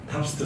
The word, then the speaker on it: TOPST: 그래서 만들어진 게 탑스트 사업 부서고요. 저희가 읽을 때 탑스트라고 읽거든요.